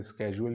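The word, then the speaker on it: schedule: इसके बाद है जी शेड्यूल, जिसको अमेरिकन प्रोनाउंसिएशन में स्केजुअल भी कहते हैं।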